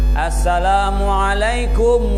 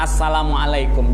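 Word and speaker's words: السلام عليكم: Assalamualaikum warahmatullah. Tidak sah. Mesti as. Tadi ada nggak asnya? Alif lam.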